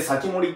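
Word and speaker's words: 防人: と書いて、これで先盛りって読むんですけ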